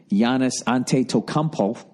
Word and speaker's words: Giannis Antetokounmpo: I don't know how many games against the Bucks and Giannis Antetokounmpo.